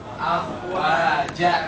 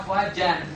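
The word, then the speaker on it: أفواجا: Kan tulisannya gini, fi dinillahi afwaja, gitu kan? Fi dinillahi afwaja. Afwaja. Jangan dibaca afwajan.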